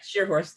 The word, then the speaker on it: Schierhorst: So hopefully it's available as forgive me if I'm saying, I don't want to say your last name wrong, Shearhorst. That's right, Shearhorst, yes.